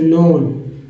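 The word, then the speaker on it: known: ये वाला resources is नोन नोन के साइलेंट है नोन ओ डब् को पढ़ा गया है इसलिए नोन पढ़ रहे हैं के को भी साइलेंट कर दिया गया तो एओ एन ओ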